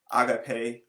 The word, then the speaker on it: agape: storjay agape and ludus i pronounce those like that because i listen to the translation on them first because they are greek words um so that is where i got my pretension from so storej is